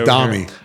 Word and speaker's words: Domi: Or Foamy or does it rhyme with Foamy or Mommy? And she voted on it and said it rhymes with Mommy.